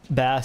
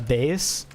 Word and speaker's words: bass: everything in my power not to say uh base even though like my mind knew it was wrong I like it wanted to be pronounced Bas so bad that I can't like